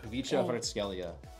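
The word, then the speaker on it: Khvicha Kvaratskhelia: Kvicha Hrtskelia is how you say his name.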